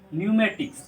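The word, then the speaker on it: pneumatics: उसके बाद आता है, देखिए ये भी आप जब शुरू पढ़िएगा तो गलती कीजिएगा, इसको पढ़ते हैं न्यूमेटिक्स। क्या पढ़ते हैं? न्यूमेटिक्स। ठीक है, तो ये था आपका पी साइलेंट वर्ड।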